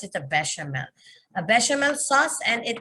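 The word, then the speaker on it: béchamel: soup based on a bechamel sauce bechamel we pronounce it a bechamel a bechamel sauce and it is a finish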